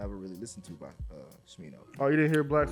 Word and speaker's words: Smino: You try to say like Smurder, but now it's Smino.